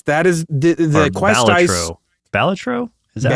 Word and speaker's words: Balatro: Balatro?